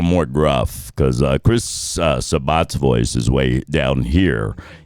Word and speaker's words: Sabat: It's Sabat, but the running joke is we all say Sabat. just we pronounce it cuz he's so famous that we